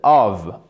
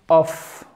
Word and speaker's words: of: Ça ne se prononce pas of, ok? C'est of. Littéralement, ça se prononce comme un V.